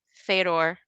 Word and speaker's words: Fedor: Daniel says it's pronounced Fedor on the Joe Rogan podcast. Fyodor, or you know what?